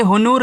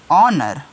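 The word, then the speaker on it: honour: कि एच आया है यानी कि ए एच क्या रहेगा साइलेंट रहेगा इसका आप नाम कुछ भी नहीं लोगे ओके यानी कि इसको बोलोगे ही नहीं तो ये पढ़ा क्या जाएगा य हुनूर नहीं पढ़ा जाएगा इसको पढ़ते हैं ऑनर क्या पढ़ते हैं ऑनर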